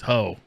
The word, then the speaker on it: Ho: name was ho oh spell it h-o ah there was no getting her it was hoe and i don't like